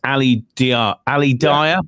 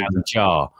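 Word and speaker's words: Ali Dia: And it's Ali Dyer, but it's actually Ali Jar, how it's pronounced.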